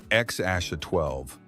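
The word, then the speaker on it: X Æ A-12: People struggled to pronounce it until Musk said it was XA Asha 12.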